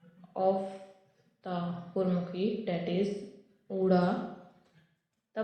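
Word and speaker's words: ਊੜਾ: Let's watch first letter of the Gurmukhi, that is Uda. The pronunciation of this word I written in English as O-O-R-A, that is Uda, and two alphabet shows that it can be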